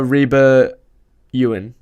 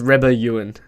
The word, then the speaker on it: Reba Ewan: name for the listeners reba ewan yes he did it right at that time the first time jayden did not know for how to say my i actually asked her what how to pronounce your name my surname yeah it's not even that hard to pronounce i thought it was rebel ewing most people say yes i'm um i am 24.